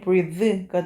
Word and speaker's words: breathe: breathe는요. 이가 붙음으로 인해 가지고 발음이 breathe가 되고요.